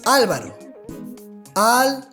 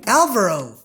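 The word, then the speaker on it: Álvaro: bit weird for example a native spanish speaker would pronounce my name as alvaro and i have some friends that would say alvaro alvaro what's up alvaro capeto alvaro and saint alvaro instead of alvaro at least for us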